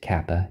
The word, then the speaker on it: kappa: So kappa is a Greek letter, looks a lot like the Latin letter K, but the way you pronounce the letter's name is kappa, K-A-P-P-A.